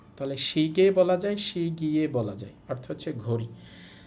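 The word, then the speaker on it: 시계: এই বর্ণটাকে ইয়ে উচ্চারণ করা যায় অথবা এ উচ্চারণ করা যায়, দুইটাই করা যায়। তাহলে আমরা এই শব্দটাকে বলতে পারি সহজে শিগে, অথবা আপনি যদি এভাবে বলতেন শি গিয়ে, শি শি গিয়ে, তাতেও কিন্তু হতো।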